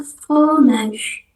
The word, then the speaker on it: fromage: Lalu yang yang selanjutnya itu tulisannya fromage tapi kita bacanya fromage fromage cuman berhenti di G yang terakhir nanti baca dan ingat G itu bajunya J maage mage ini artinya keju cheese.